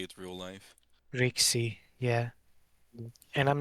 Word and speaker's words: RCIC: Well, Marcy, the RSC or Rixie thing could have been prevented had I'm just saying I always try to pronounce RCIC as Rixie to avoid confusion because they sound RCIC and RRC sound very similar whenever you're speaking quickly.